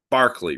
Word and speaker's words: Berkeley: or naive realism so George Berkeley Barkley really is how it's pronounced um offered this experiment